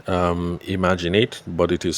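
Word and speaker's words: IMAGIN8: She has a gift business in um Lagos and it's called um Imaginate, but it is spelled uh I M A G I N and then the number eight. So imaginate.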